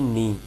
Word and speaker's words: knee: ठीक है, इसे कहते हैं KNEE, नी, नी। इसके बाद आता है यहाँ